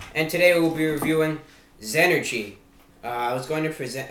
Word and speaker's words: XEnergy: energy drink report and today we'll be reviewing zenergy i was going to present uh you know pronounce it as x energy but no the correct pronunciation is as energy